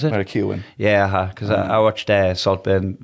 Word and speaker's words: Keoghan: How do you pronounce it? Barry Keoghan.